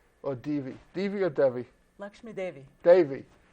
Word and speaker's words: Devi: devi divyadevi lakshmi devi davey okay it's pronounced as an a and today's prophetic topic